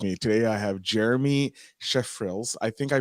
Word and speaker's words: Schreifels: pronounce last name okay it's german so it's trifles schreifels okay jeremy schreifels uh from the road